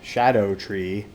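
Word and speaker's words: Shadow of the Erdtree: items so I've learned that these things are pronounced shadow a tree Shadow tree so it's uh deriving from or playing with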